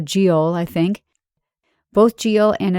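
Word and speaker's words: geol: Old English noun and it's spelled GE o l so giel I think both GI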